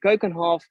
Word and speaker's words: Keukenhof: from amsterdam and these gardens are called the kokenhof so i know in some other languages people are pronouncing it completely different but it is in the right dutch pronunciation it is and kokonhof by the way is standing is a dutch